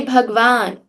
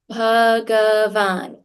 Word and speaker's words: Bhagavan: put this sound together, you cannot forget ah and say Bhagavan. You also cannot say Bhagwan because there's no Halant on G. This is not Bhagwan, it is Bhagavan. It is also not Bhagwan because there's no a after the bh. It's not Bhagwan, it's not Bhagwan. In Sanskrit, it is Bhagavan with a halant.